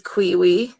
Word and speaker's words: Kuyui: So yeah, so the lake, so Kuyui is Kiwi. So Kuyui.